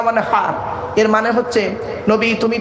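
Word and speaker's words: وانحر: এই গলার ভেতর থেকে এটা উচ্চারণ করবেন, ফাসাল্লি লিরাব্বিকা ওয়ানহার।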